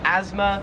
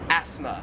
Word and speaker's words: asthma: In America, we call it asthma, and in Australia, it's pronounced asthma. We kind of say it more like a Z sound, like asthma, where here it's more like an F sound, like asthma.